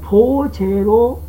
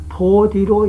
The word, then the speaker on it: 菩提: 따라서 보제로 읽어야 할 것을 보디로 읽는다고 해도 잘못된 것이 아니다 라는 얘기를 하는 것입니다.